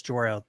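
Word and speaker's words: Jor-El: It's Jorel. People are going to hate you if you keep saying it wrong.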